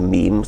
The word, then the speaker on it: meme: So I called it a meme. It doesn't exactly rhyme with gene, but it's sort of short and sounds vaguely similar.